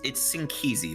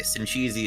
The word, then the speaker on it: Sinkizi: Yeah, it's Sinkizi, by the way. Sinchizi is also acceptable because that's just what so many people say, but that is how you say his name.